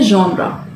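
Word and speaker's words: genre: इस वर्ड का प्रोनाउंसिएशन होता है जॉनरा। क्या होता है इसका प्रोनाउंसिएशन?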